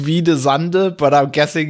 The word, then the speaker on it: Hvide Sande: Near, I would say it's pronounced Hvide Sande, but I'm guessing it's pronounced completely different. Yeah. Are you ready? Yeah. Hvide Sande.